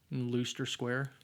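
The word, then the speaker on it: Leicester Square: See, I know how to pronounce some British words the British way, right? like Aluminium, right? Looster Square for all for all our British fans.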